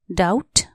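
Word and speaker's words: doubt: एस T trust संका डाउट डी ओ यू बी टी डाउट यहां B silent D ओ यू बी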